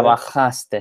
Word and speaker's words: trabajaste: Trabajaste, is that how you say it? Trabajaste, sí. Haste, yeah, okay. Sí. So the J is an H for all intents and purposes.